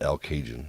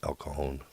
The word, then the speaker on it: El Cajon: socal we respected the latino heritage and we pronounce the things correctly we didn't call it al cajun we call it el cajon location this is the box or la mesa